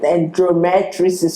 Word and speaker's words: endometriosis: Me, in my head, I was even thinking, okay, maybe all of this fibroid and endometriosis, or what? Sorry, I mispronounced the endomet.